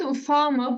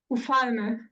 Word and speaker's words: ufalme: I've heard ufama, but I never knew what it means. Which one? Ufalme. Yeah, ufalme. Last time we were talking